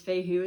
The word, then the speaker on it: Fehu: And it is Fehu is how it's pronounced.